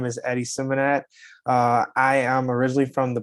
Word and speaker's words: Symmonett: Is it Symmonett? Is that how you pronounce that? Yeah, Symmonett, correct? Yeah.